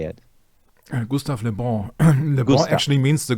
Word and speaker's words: Gustave Le Bon: I may have butchered that. How do you say it? Gustave Le Bon. Le Bon actually means the good one. Okay. It's Gustave Le Bon.